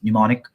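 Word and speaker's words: mnemonic: me tell you that it spells m n e m o n i c pneumonic the m is silent now I realized this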